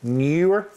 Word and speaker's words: Neewer: It's Neewer with 2 E's at the beginning. So Neewer.